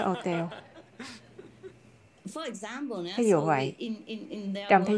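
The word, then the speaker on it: hôtel: Chẳng hạn như trong tiếng Pháp, chúng ta không nói hotel mà nói hotel.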